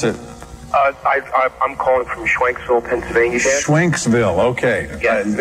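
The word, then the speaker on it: Schwenksville: Thomas, pronounce it. I'm calling from Schwanksville, Pennsylvania.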